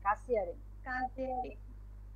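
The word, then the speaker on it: Kassiererin: Meine Mutter gibt der কাসিয়ারিন, double S হলে double S এর মতো উচ্চারণ হবে, জয়ের মতো উচ্চারণ হবে না, কাসিয়ারিন। জি আপু, কাসিয়ারিন। Das Geld, এটা হচ্ছে মানি।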